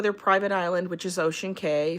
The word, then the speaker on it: Ocean Cay: We're going to go to their private island, which is Ocean Cay. Some people call it Ocean Key. Depends on how you pronounce it.